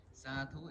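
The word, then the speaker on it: sadhu: the blessing our tradition is to say Su zatu is s a d hu. That's what is spelled s a d h u.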